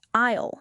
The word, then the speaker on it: aisle: We mentioned the word aisle several times. Aisle is spelled A-I-S-L-E, but the letter S is completely silent.